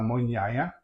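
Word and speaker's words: mugnaia: Um, what we're making today is macaroni alla mugnaya. Check the spelling when I post the video and get that pronunciation right. Mugnaya, the GN in Italian is la N, sound like in canyon.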